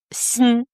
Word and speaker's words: 鑫: Tin tin non et ça se prononce sin x i.